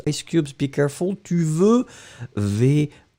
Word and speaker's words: veux: parler avec moi, tu veux me parler, vous voulez me parler, everything goes. Ice Cubes, be careful, tu veux, V-E-U-X, remember, we don't pronounce it, but it should be there.